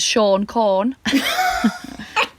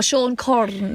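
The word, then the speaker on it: Siôn Corn: Father Christmas in Welsh is Sean Corn. Maybe you can roll your R. Sean Corn. Well, Sean Corn, really, you roll your R.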